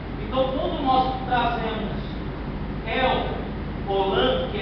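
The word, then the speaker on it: El Olam: aqui ó e etno no hebraico se pronuncia el olan ou seja Deus eterno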